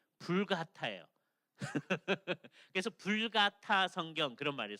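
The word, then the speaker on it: Vulgata: 근데 옛날에 중세 시대 때 라틴 벌게이트라고 합니다. 예, 그게 이게 라틴어로 쓰면 이렇게 돼 있어요. 그래서 발음이 불가타예요.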